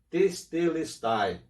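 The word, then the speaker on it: τετέλεσται: Essa palavra em grego pronuncia-se testelestai, que quer dizer que com a sua morte ele cumpriu todo o propósito de Deus.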